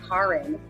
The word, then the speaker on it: Karin: would spell it, and they would actually pronounce it Karin.